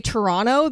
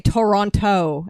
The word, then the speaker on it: Toronto: they don't they say Toronto they don't say Toronto and pronounce the last T everybody up to the